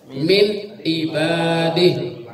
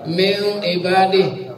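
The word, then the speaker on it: من عباده: Cara bacanya adalah min. Kan E-nya jelas. Min ibadih. Jadi nggak pakai ditahan. Kadang-kadang ada yang bacakan ini min ibadih. Jadi seolah-olah ifa nggak jelas tapi dibaca cepat.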